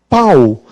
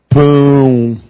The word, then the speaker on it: pão: fica Mai não é isto aqui eu pronuncio pau agora eu coloco tiu o som fica mãe nasal aqui pão nasal se eu digo corações